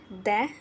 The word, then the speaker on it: the: ஆனால் இதை 2 விதமாக உச்சரிக்கலாம். ஒன் த, இன்னொன்று தி. கான்சனன்ட் சவுண்ட் மெய் ஒலியோடு தொடங்குகிற வார்த்தைக்கு முன்னாடி த அப்படின்னு ப்ரொனன்சியேஷன் பண்ணணும்.